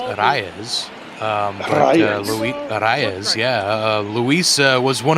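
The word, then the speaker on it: Arraez: yeah Luisa Reyes and if you can roll your r's it's arayas yeah uh Luisa was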